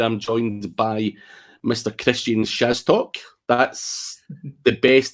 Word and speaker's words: Szastok: Krystian Szastok. That's the best it's ever been pronounced, Krystian, am I right?